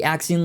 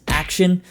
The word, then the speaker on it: Axion: So last time out, we talked about the Axion label series, or as it was pointed out, they're probably pronounced Action.